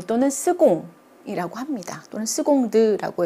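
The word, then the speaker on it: seconde: 여성으로 만들어 주면 되겠어요 두번째 스공 을 요구 발음의 굉장히 자주 나오는 건데요 스 콩이 라고 하시면 안됩니다 그럼 여러분들 영어에 익숙하여 가지고 이거를 세컨드 때문에 크로 하는데 온 그 로 발음이 나는 단어 에요 그래서 첫 번째와 두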